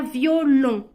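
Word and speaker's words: violon: segundos para pensar diferente esta significa violín y se pronuncia violo violo y esta significa violento y se pronuncia violó violo aquí tenemos el sonido nasal como la moto y aquí tenemos el sonido nasal O como cuando dices No no violó más contenido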